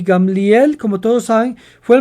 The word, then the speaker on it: Gamliel: cual rambang gamliel usted probablemente pensaba que se pronunciaba gamaliel pero la pronunciación correcta en hebreos gamliel y gamliel como todos saben fue el maestro fariseo de